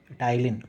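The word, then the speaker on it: ptyalin: अब ये टाइलिन enzyme है, इसकी स्पेलिंग एक्चुअली ये होती है टाइलिन, ठीक है। टाइलिन नहीं है, PTIALIN है, बट बोलते टाइलिन ही है क्योंकि P साइलेंट होता है।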